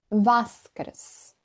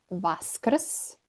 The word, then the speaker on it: Vaskrs: We say Uskrs or Vaskrs. I know, too many consonants, and it's not the easiest word to pronounce, but it is one of the most beautiful ones.